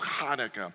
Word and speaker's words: Hanukkah: like that alright so it's clearing your throat it's Hanukkah so it spelled a